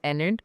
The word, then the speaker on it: Enid: Enid Blyton was one of the biggest influences. We grew up knowing her as Enid, but then we realized Enid's not how you pronounce it. It's Enid.